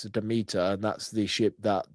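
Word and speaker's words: Demeter: It is the Demit. If you pronounce it right, it's the Deita and that's the ship that Dracula comes in.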